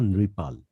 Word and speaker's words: নেপাল: তারপরে নিপাল হবে না, নেপাল হবে। মানে না, এখানেও ভুল হলো। মূল শব্দটা নৃপাল।